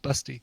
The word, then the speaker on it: Basti: Busty is the phonetic version for the German name Basti, B-A-S-T-I, but it's pronounced Busty.